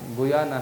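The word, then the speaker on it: Guyana: परम पूज्य तमाल कृष्ण महाराज गुयाना या घाना कहते हैं उसको, उसका गुयाना है वास्तव में उसका प्रोनाउंसिएशन, या घाना देश है, अमेरिकन कंट्रीज में आता है ना।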